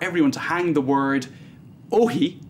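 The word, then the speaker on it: όχι: There's a call for everyone to hang the word "ohi" I think it's pronounced Ohi, even though it's spelled Uxie, which means no, from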